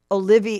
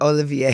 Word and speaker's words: Olivier: you not date Oliver who is Mary K Olivia oh thank you Olivier how do you say his szy he is